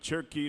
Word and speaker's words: Cherokee: in cherkee North Carolina you notice how I said it the way they say it right turkey yeah that's the way you're supposed to say it there's no o in that word is there turkey yeah you got